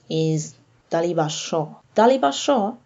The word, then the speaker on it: শ: Taliba Sho, this letter is pronounced like in sh in English, in show.